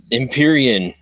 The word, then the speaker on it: Empyrean: It's, please help me with the pronunciation, guys. Yeah, Empyrean. Empyrean, Earth Yay, Illuminated.